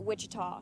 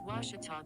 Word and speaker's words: Ouachita: university back in texas everybody pronounces it wichita but really it's ouachita washington how would you pronounce it it's washita baptist university get it